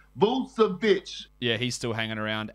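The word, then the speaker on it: Vučević: It's Vucevic.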